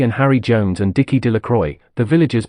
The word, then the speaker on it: Delacroix: roundest stones Bobby and Harry Jones and Dickie De La Croix the villagers pronounced this name delacroix eventually made a great